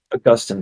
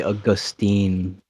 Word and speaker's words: Augustine: August I don't cares Augustine Augustine thank you yeah I used to say Austine and then uh I